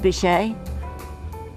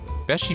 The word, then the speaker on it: Beachy: It's not pronounced Bichet. Beachy Furniture, located next to the Mermaid a few miles from the Delaware beaches on US Route 9.